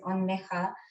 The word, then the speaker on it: Anwesa: Even my name is Onneha.